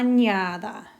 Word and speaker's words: añada: If you have two A's next to each other, or in fact two vowels that are the same next to each other, they're going to blend into one sound. So instead of having a bunch of different syllables here, in la, an, ya, da, these two are going to combine to have only 3 syllables.